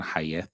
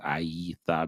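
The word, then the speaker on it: הָיְתָה: It's more easy for me to pronounce it that way more than Hayetha. I kind of pronounce it Aitha because of the Y sound that goes E at the end of the day.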